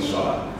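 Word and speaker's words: Sola: This is, the spelling of my name is S-O-L-A, just so you know, but the pronunciation is indeed S-H. I'm quite happy with S-H-O-L-A because I don't want people calling me Shola.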